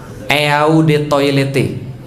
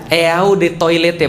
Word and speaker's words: eau de toilette: enggak kering saya tanya eau De toilette pernah lihat nanti kalau besok-besok main ke mall ternyata Jangan enggak bayarnya Dirimu sombong banget eau de toilette artinya adalah Ode toilet bacanya e-awb atau Ode saatnya air toilet toilet